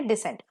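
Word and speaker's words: decent: होगा ेंट होगा सो बहुत ही कम वे में इसको लोंगे नहीं करेंगे अ बहुत ही जल्दी इसको हम प्रोनाउंस करेंगे डिसेंट सो डी सी एंटी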